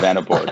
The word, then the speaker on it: Vanaboard: And they started a company that's called Vanaboard, right? Is the pronunciation correct, guys? We think so. Yeah. Vanaboard, yeah.